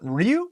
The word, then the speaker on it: Ryu: always wanted to be Ryu from Street Fighter so look that's how you pronounce it oh gosh right oh well you know what Ryu little Japanese accent in there a little hadoken I